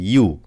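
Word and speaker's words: يُ: হা পেশ হু খ পেশ খু আইন পেশ উমজা পেশ উমজা পেশ উলিফ হামজা হয়ে যাবে আগেই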